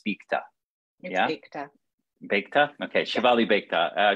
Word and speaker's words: Beakta: I wanted to double check on how to pronounce your last name, but it's Beakta. Beakta.